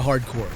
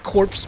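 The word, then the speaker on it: Hard Corps: A lot of people really love Contra Hardcore. And yes, that's how you pronounce this. It's not corpse people.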